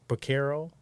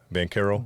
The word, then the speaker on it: Banchero: We got, I don't know how to say his name, Baquero, Oh, Paulo Banchero.